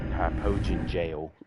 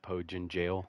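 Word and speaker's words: Hypogean Gaol: back to hypogen Gil hyoin jail or whatever that's actually how that's pronounced but I guess I've I've always called it Hogan jail but I don't know how correct that yeah the bad guys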